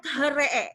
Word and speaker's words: three: Indonesia, kaidah bahasa Indonesia, angka 3 dalam bahasa Inggris itu bacanya harusnya THREE, betul nggak? THREE, harusnya dibacanya gitu. Iya. Karena bahasa Indonesia taunya itu dipisah, tetapi di dalam bahasa Inggris itu dibaca jadi dia nggak T, dia nggak H. Dia nggak T, dia nggak TH.